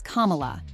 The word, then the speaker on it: Kamala: Hollywood star, Kerry Washington, along with Harris's grandnieces, taught the DNC crowd how to pronounce Kamala. Everybody over here, say Kama! Everybody over here, say La! Together!